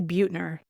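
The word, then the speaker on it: Buettner: say his name Amanda I think we say Butner okay Dan Butner mentions that Americans spend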